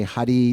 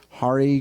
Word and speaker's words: Hare: Not that we say, Hare, Hare, Hare, Hare Krishna, Hare, or, Hare, Rama, we roll the R's, or we say Hare. No, it's Hare, Krishna, and Rama.